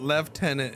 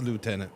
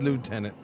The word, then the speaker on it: lieutenant: Uh, what about left tenant and lieutenant? Uh, no. I'm a US man. It's a lieutenant. It's It's lieutenant. No, there's no there's no left tenant.